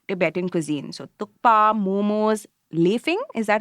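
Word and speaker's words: laphing: So tukpa, momos, lefing. Is that how you say it, Singha? Yes. Yeah, lefing.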